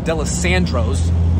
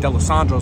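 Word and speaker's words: Dalessandro's: Then I was standing outside waiting for it, and I was talking to Ray, big Eagles fan, says it's pronounced DeLisandro's. I was saying DeLisandro's like an asshole.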